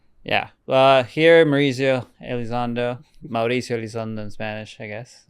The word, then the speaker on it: Mauricio Elizondo: Well, so I guess like speaking of mispronouncing stuff like is you pronounce your name uh Mauricio Alzando? Yeah. Well, here Mauricio Alzando.